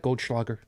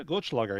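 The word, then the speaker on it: Goldschläger: you take them too literally did i even pronounce that correctly is that goldschlager did i say that right yeah glitchlogger yeah oh good that's two nights in a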